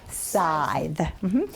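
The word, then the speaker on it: scythe: saying the correct word but not the right pronunciation aside side s-c-y-t-h-e aside yep the crop falls under the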